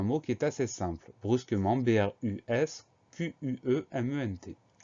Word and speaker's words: brusquement: son en cévennes et on a une lettre muette à la fin du mot c'est la lettre t qu'on entend pas mais c'est une syllabe